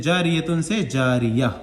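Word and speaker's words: جَارِيَة: गोलता, गोलता पर वक्फ करना हो तो वो हाय साकिना बन जाती है, जैसे जारियतुन से जारिया, ठीक है।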